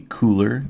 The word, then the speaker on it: Kuler: Used to be called Adobe Color, Kuler, and it was supposed to be pronounced color, and they just, in a